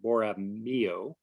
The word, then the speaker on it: Borromeo: And Father Sierra offered mass, and they laid the beginnings of the mission of San Carlos Borromeo, excuse me, I'm mispronouncing it, Borromeo, and founded the Presidio of Monterey.